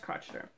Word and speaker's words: Crocheter: It's spelled like crocheter, pronounced crotcheter. Yes.